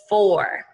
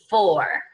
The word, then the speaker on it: four: Now, boys and girls, this is a little tricky because it is not, I bought a gift for you. This is the number four.